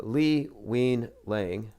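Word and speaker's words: Li Wenliang: this was like uh lee wein lang wuhan whistleblower i heard it pronounced it sounds like we lying anyway another 33 year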